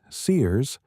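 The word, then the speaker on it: CEERS: One set of galaxies discovered in the JW ST ce survey, pronounced Sears, had stellar masses so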